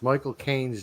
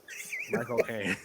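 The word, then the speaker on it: Michael Caine: know how to pronounce Michael Kane's name the way that he would pronounce it you just take the word cocaine and put my in front of it my cocaine Micha Kane oh my God and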